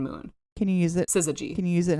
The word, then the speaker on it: syzygy: I think she's going to say syzygy.